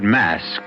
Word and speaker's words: masque: of the Red Death the word mask you should know is spelled m s QE and means masquerade and to begin this